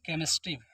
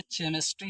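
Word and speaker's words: chemistry: तो चे मिस्ट हो जाएगा जैसे अगला है केमिस्ट्री बहुत से बच्चे केमिस्ट्री पढ़ते होंगे उनके सिलेबस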